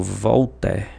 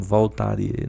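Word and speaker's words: Voltaire: Mas eu eu me atenho muito uma uma frase do Volter, um pensador francês que a gente pronuncia, alguns pronuncia como Voltarie, né?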